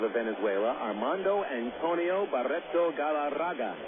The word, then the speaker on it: Galarraga: Armando Antonio Barto Galaraga. You got to roll the Rs, too. Otherwise, you just don't say it correctly.